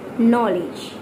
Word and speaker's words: knowledge: And fourth word is knowledge. Knowledge. Night, no, knife, knowledge. K-N-O-W-L-A-D-G-E. Did you notice? There is N, but we are not pronouncing N. We are not pronouncing K.